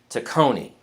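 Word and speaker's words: Tacony: even now let's see I got to pronounce it right to Coney there we go I have to put the accent on the second syllable so even to Kony's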